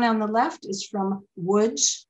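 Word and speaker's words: Łódź: the left is from woods which is spelled l-o-d-z and it looks like it should be large but it's wood and the one in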